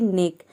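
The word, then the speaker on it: neck: Number 2 है, यदि किसी वर्ड में सी के अगर एक साथ हो तो सी और के दोनों को मिलाकर हम एक लेटर में क्या प्रोनाउंस करेंगे, क प्रोनाउंस करेंगे, जैसे कि नेक।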